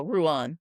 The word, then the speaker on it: Rouen: Rouen. Oh, Rouen.